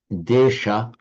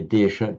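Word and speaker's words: देश: In the languages of modern northern India, you lose the final a, so you don't say desha, just desh.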